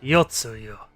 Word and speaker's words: Yotsuyu: Yotsuyu. Yotsuyu.